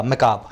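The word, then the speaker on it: macabre: मैकाब एक जो है एडवांस सिनोनिम है बहुत बुरी चीज़ का, मैकाब, है ना, इसका आर साइलेंट होता है।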